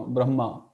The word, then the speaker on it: Brahma: this one Brahma so naturally M sounds double you know Brahma Brahma we stop at brah and then we speak again ma Brahma so sis are very